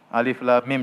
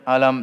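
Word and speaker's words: الم: Alif lam mim jangan dibaca alam, ya. Kemudian misalnya Sad, Qaf dibaca per huruf. Hamim, ya. Hamim, Alif, Lam, Mim, Sad, ya. Jadi dibacanya bukan sebagai kata, namun dibaca sebagai huruf, ya.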